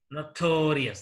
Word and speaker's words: notorious: from the last one for example notorious notorious this war has three syllables here the second syllable is stressed here notorious ceremonious delicious